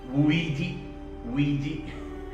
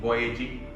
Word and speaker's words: Vujicic: pronounce his name before last time i pronounced pronounce it as ouiji actually is pronounced as nick voyaging nick so i will